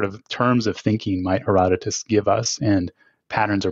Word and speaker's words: Herodotus: anthropocene okay wait and how do you pronounce Herodotus is it Herodotus or something else you've got it right erotica okay um it's